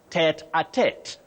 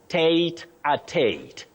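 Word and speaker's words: tête-à-tête: You say tete-a-tete. Tete-a-tete, yes. You can also say tate-a-tate. Tete-a-tete or tate-a-tate, but not tete-a-tete. Don't say tete-a-tete. That will be something else and not English.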